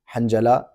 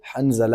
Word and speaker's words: حنظلہ: نام لے رہے ہیں حنجلہ، یہ حنجلہ نہیں ہے بلکہ اس کا اصل تلفظ جو ہے وہ حنظلہ ہے، ذا کے ساتھ ہے۔ بس علماء اکرام نے